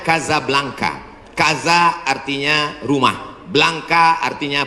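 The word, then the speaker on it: Casablanca: kuliah nama negaranya Maroko ibukotanya tulisannya casablangca cara bacanya Kadzab langka Kaza artinya rumah Blanca artinya putih Kasablanka rumah warna putih bahasa Arabnya ada rolbok dari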